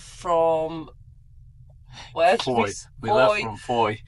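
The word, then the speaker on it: Fowey: It was sunny when we set off from where we left from foy foy which is spelled thaw by the way.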